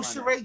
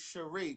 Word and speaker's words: Cherie: Oh, Sheree, you're in Chicago. Oh, you know what? It's Cherie. Pronounce the E.